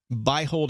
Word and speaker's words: Beihold: right yep buy hold is the correct pronunciation i'm really impressed that